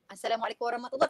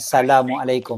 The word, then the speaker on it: Assalamualaikum: yang penting bacanya betul Assalamualaikum bukan Salamualaikum peti Assalamualaikum so assalamualaikum warahmatullah wabarakatuh